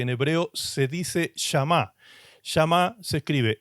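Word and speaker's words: שמע: Shamá se escribe s h a m a.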